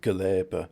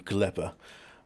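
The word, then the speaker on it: Gleba: I I quite like the um European way of pronounce it. Gabber sounds better than Gleber.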